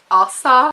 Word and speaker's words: Asa: It's Asa.